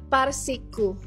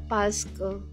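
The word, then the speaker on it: parce que: Dati binabasa ko yan as parsiku. Parsiku. Yun pala pasco yun.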